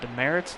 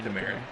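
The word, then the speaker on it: Demeritte: Is it Demerits? No, Demerit. No, it's not that. It's Demerit.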